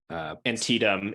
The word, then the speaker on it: Antietam: Yes, I have to narrate a flashback to the horrors of the Battle of how do I pronounce that? Antietam.